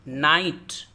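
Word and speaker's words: knight: नाइट, नाइट बहादुर सूरमा। ये इसके शुरू में के साइलेंट है, ये नाइट रात वाला नहीं है, बल्कि ये KNIGST नाइट, बहादुर सूरमा।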